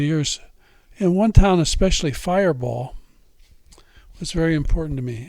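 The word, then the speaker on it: Firebaugh: And one town, especially, Fireball, was very important to me. And we pronounce it like it's B-A-L-L, but it's really B-A-U-G-H.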